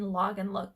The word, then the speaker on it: Lagenlook: Again, that's not always, but that is just a trend that I've been noticing in log and look clothing. So log and look is spelled Lagenlook, and if you have